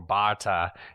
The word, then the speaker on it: Barter: And that is the case of Marian Barter or Barta as they say on the Lady Vanishes podcast, which is a fantastic podcast.